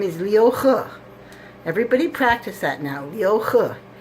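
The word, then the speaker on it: Liu He: name correctly it's spelled H e it is pronounced huh his name is Leo huh everybody practice that now yoga he's the guy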